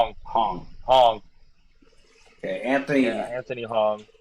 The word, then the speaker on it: Hong: How do you pronounce his last name? Hong.